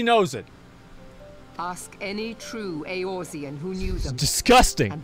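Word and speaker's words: Eorzean: guilds right we forged the aosian alliance aorzian okay that's how you say it aorzia okay and at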